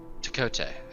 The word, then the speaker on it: Tkote: The T is silent. Of course. Takote, actually.